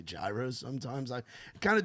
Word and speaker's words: gyro: Euro. So I've heard people say I grew up saying gyros, but then I was corrected to say euros, but I still say gyros sometimes.